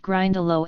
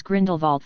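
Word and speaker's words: Grindylow: It was just that Harry had mispronounced Grindalo as Grindlevault from the chocolate frog cards, which derailed the topic. The last creature is grind alo. Don't<unk>t mispronounce it next time.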